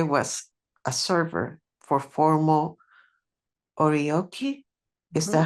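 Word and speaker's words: oryoki: I was a server for formal orioki. Is that how it's pronounced?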